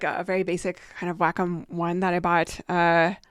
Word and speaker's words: Wacom: I have a a Waycom. I think that's how it's pronounced. A Wackom. Let me let me actually grab that. Yeah, I have like a very basic kind of Wacom one that I bought uh a few years ago.